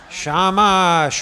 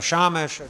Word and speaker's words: shamash: the extra one is called the shamash or shamash depending on your pronunciation and that one's job